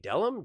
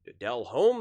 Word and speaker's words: Delhomme: Jake Delum, Jake Delhom, Jake Jake Delhomme, like you know like that's that's the difference.